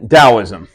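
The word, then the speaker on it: Daoism: finally you have um dosm it can be spelled with a t too um Dost dosm um and basically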